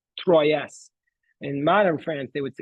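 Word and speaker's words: Troyes: In modern French in modern French the S is silent but in Raj's time they said it. They so was it was pronounced Troy.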